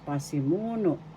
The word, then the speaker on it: pasimuno: First syllable pa, second syllable si, third syllable mu, fourth syllable no. The second syllable has the accent pasimu. Excuse me, please. Pasimuno. The third syllable has the accent pasimuno.